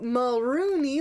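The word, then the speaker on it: Mulroney: created by Brian mulrooney so marooni limes rhymes with Looney and then when we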